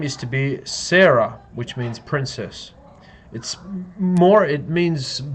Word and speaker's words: Sarah: Her name is to be Sarah, which means princess. It means princess of Yah. Sarayahu is also a way that her name can be pronounced.